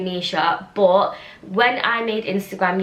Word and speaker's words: Mischa: how to pronounce it it is pronounced Misha and that spelling just say Misha but when I made